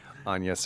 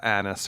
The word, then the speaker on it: Agnes: Yeah, the original Anne, or Agnes, or Annis, or however, or Anus, however you say her name. That's how they say it in the movie.